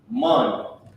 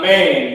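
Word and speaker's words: מן: Mun. Mun. Mun is a word that means, let me put how you pronounce it. Mun. It's not man, it's mun.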